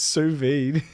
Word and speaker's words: sous vide: How's it pronounced? Sous vide.